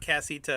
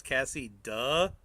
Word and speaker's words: Cassita: Oh, so it's not Cassita. It's Cassie. Duh. Cassie. Duh. Why is it spelled with a T then? Cassie. Duh means duh, like duh with a D. Well, like Cassita. That's how y'all spelled it. See, Cassie. Duh. Like duh.